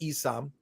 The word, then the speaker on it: Isom: of this universe Isam I'm told it's pronounced Isam some say some say